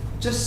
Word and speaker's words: just: But bartender says, just a second. Once again, that tea is silent. when you say it fast.